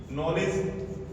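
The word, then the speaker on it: knowledge: वो इसी तरह से नॉलेज के एन ओ डब्ल्यू एल ई डी जी ई ये यहां डी आ रहा है इसलिए इसके बाद क्या आ रहा है जी तो ये डी हमारा साइलेंट रहेगा ये हो जाएगा नॉलेज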